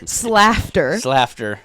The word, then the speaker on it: Slaughter: Okay, so Slafter. We just came up with that now. Claire came up with that now. So you said it's laughter with laughter an S. with an S.